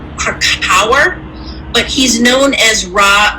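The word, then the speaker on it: Krakower: It's Krakauer, but he's known as Ra Uruhu.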